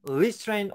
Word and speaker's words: restraint: 앞에 RE가 붙으면 거기에 강세가 거의 안 들어간다고 보시면 돼요.